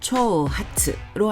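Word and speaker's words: 挑発: 예시 단어를 보시면 도전 도발 많이 들어보셨죠 일본어 발음으로는 도전은 초센 도발은 초우 하츠로 하시면 됩니다 쓰는 순성하겠습니다 앞에 손수를 먼저 하시면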